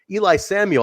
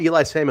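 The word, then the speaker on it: Eli Isom: Whoopsie, Brandon Richard, Paul Nelson, Sid Bones, Eli Samuel. I love Eli Samuel. It took me a while to get how to pronounce his name, but it was like Eli Drake.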